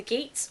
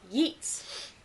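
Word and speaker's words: Geats: is king of the geets or yeets because you didn't pronounce the you don't pronounce the G technically so it's called Yeet land and they're yeets as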